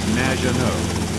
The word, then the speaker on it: Maginot: It's Madge, which rhymes with badge. As in duh, and no, as in more than you. Maginot.